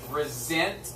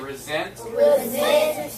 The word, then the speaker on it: resent: the past tense so it actually is pronounced resent with a z sound everybody say resent and resent say one